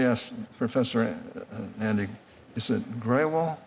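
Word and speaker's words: Grewal: Now, let me ask Professor Andy, is it Graywall? Graywall, yes. Graywall? Okay. I want to pronounce it right.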